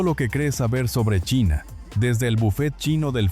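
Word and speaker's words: Qin: El nombre China que usa todo el mundo viene de esa dinastía Chin, que se pronuncia Chin, pero eso es el pasado y el presente.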